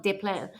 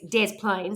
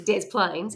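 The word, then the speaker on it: Des Plaines: I hate calling it Desplaines because it looks like it's French, but you don't pronounce it French. It's not De Plan, it's Dez Plains. And when they say it's Dez Plains, it looks like I'm joking.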